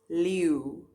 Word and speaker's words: leeu: Eeuw, eeuw, leeuw, leeuw, lion.